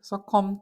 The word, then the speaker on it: succumb: 즉 피하는데 뭐 하는 것을, succumb to는 이게 이제 묵음이고, succumb to는 굴복하다.